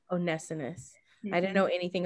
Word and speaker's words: Onesimus: Yeah, Onesimus. Onesimus.